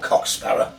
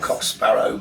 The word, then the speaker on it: Cock Sparrer: Or a right me old Cock Sparrer. Oh yes. Or right me old Cock Sparrow, but somehow he went to Sparrow. Yeah, now, it's the way they pronounce it.